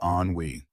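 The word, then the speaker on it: ennui: Anwi is pronounced onwe.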